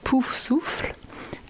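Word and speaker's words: Poufsouffle: Hey, so the correct French pronunciation of the Hogwarts houses, we have Gryffindor, Gryffondor, Ravenclaw, Sœur d'Aigle, Hufflepuff, Pouf Souffle, and Slytherin, which is Serpentard.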